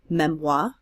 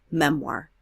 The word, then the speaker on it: memoir: you'll hear it's pronounced memoy why someone who's French speaking in English we tend to pronounce the R so we'll say memoir take a moment and